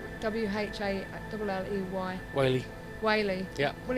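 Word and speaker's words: Whalley: As it's spelled with H. W-H-A-L-L-E-Y. Whaley.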